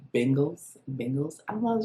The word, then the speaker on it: Bengals: of me and says it's not the bangles it's the bengals bengals i don't know